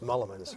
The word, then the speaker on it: Mullemans: And tonight, my guest, Mullemans, did I pronounce that properly? It's close, Mullemans.